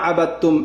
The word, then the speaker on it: أعبد: ওয়ালা আনা আবিদুম মা আবাদতুম, এটা কি 4 নম্বর আয়াত। ওয়ালা আনা আবিদুম মা আবাদতুম 5 নম্বর আয়াত। ওয়ালা আনতুম আবিদুনা মা আ'বুদ আ'বুদ লাস্টে কি কলকলা।